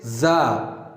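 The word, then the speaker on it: ز: Wherever you see this shape without any dot, as I have already mentioned in my previous lecture, that you pronounce it Ra. But when you see a dot right here, you should pronounce it Za, Za, Za.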